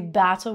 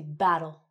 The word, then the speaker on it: battle: We don't say battle, we say battle.